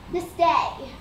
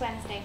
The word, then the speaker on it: Wednesday: It was a Wednesday. Just Wednesday, thanks.